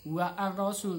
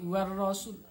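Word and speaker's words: والرسول: Kemudian ar-rasulah, nah di situ ada ar-rasul, maka alif lam kemudian diikuti setelahnya adalah ro, maka di situ bacanya adalah idgham syamsiyah. Jadi alif lamnya ketika dibaca seakan-akan tidak ada. Jadi bukan wa ar-rasul, tapi war rasul.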